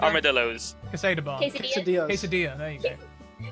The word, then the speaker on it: quesadilla: Quesada. Armadillos. Quesada bar. Quesadilla.